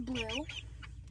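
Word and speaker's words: Bloo: So that one that just came in is blue. It's spelled B-L-O-O.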